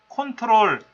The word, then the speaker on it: CTRL: CTRL을 컨트롤이라고 읽는다라고 하면 그 사람은 컴퓨터를 제법 아는 거예요.